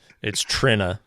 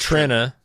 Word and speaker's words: Trina: Speaking of name pronunciations, it's Trina. Trina. All right. Everybody calls her Trina. But it is Trina.